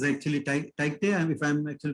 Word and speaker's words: Tauktae: It's actually Tauktae, if I'm actually pronouncing correct.